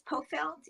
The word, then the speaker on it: Pofeldt: Oh, it's Pofeldt, equal emphasis on the first and last syllable, but call me, please.